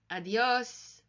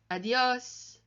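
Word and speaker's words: adiós: then goodbye in Spanish adios and you here with an accent again you can hear the emphasis adios adios adios Libyan and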